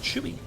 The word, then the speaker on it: Chewy: And I've been DM'd that the support, their name is Chewy. That's how you pronounce that.